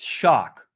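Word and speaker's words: Choque: white um but i wanted this book called choke it's actually pronounced shock that's about the history of brazilian jiu jitsu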